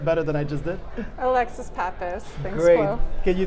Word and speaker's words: Alexis Pappas: Please spell your name for me or pronounce it better than I just did. Alexis Pappas.